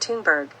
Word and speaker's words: Thunberg: of authors including Gerta fenberg pronounced tunberg the young climate activist